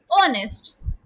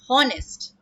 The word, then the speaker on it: honest: Because H in honest is silent. We pronounce it as honest and not honest.